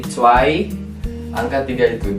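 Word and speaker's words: zwei: ya guys ya betul angka dua itu t sama ada ei jadi tai angka tiga itu dry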